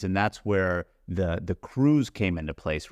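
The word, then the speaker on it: krewe: that's where the the crews came into place right and by crew it's spelled k r we but they're whole bunch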